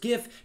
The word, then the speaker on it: GIF: of interest but anyway it turns out that the image format is pronounced GIF GIF like the word gift and there are certainly